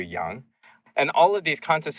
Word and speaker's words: Yang: But then you have people like Andrew Yang, who's really supposed to be like Andrew Young.